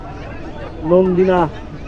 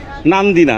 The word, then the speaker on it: নান্দিনা: train ছেড়ে দিল এই নন্দিনা রেলওয়ে স্টেশন থেকে উচ্চারণ করতেছি অনেক সাবধানে আর কি নান্দিনা দেখে ভুল ভুল করে ফেলছি নন্দিনা বলে ফেলছি হবে হচ্ছে নান্দিনা স্টেশন এই হচ্ছে মূল ভবন